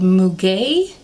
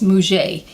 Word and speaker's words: muguet: it's French it's called muguet M you gue T I'm Italian I definitely do not speak French so I'm sure I butcher that but I think it's pronounced mu J and it's a fragrance